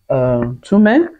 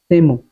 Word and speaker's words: Temu: Now, this is my first phone pack I got from Tume. I really hope I pronounce this thing well. Tume. Temu.